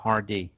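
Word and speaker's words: Hardie: Thì ở đây đọc là H-A-R-D-I-E, the Hardy, Loser Hardy.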